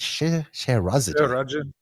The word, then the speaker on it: Scheherazade: Scheherazade.